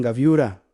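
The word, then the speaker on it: גבורה: Ang gaviura se pronuncia exactamente así, angue burra.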